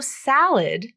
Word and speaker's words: salad: Okay, so the full pronunciation is sal with the a vowel like in apple, but the next syllable is id.